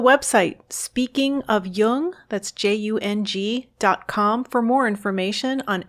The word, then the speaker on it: Jung: or on tune in just be sure to pronounce Jung with a heart J so with special thanks